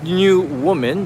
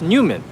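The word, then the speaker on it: NEWoMan: So, this is Newman. It looks like New Woman, but actually it's pronounced Newman.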